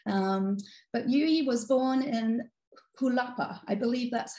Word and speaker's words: Jalapa: But Yuyi was born in Jalapa. I believe that's how you pronounce the capital of Veracruz in Mexico.